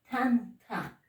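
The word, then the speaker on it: thanta: T con H. Tanta. Tanta. Pronunciación expirada.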